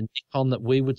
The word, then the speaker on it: Nikon: talking to people I I might say sometimes if I'm talking to you Nikon instead of Nick on that we would say